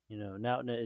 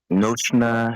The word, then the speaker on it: Noshna: Nautna is acceptable, but Noshna is the actual pronunciation. Noshna Shala.